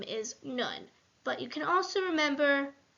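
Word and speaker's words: נון: And that helps you remember that the name is Nun. But you can also remember that it just has Nun, kind of sounds like the word none, which is what it means in the game Dreidel.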